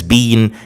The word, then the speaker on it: been: And then the past participle or the form number 3 of verb to be is been, spelling B-E-E-N, and it's pronounced in British English as been, in American English as been.